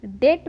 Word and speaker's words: debt: जैसे DEBT, इसे हम डेप्ट नहीं डेट पढ़ते हैं।